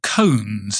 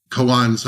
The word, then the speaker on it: koans: And I think of something called koans. Is that the right pronunciation of it?